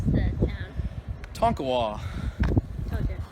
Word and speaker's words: Tonkawa: How do you pronounce the town? Tonkawa.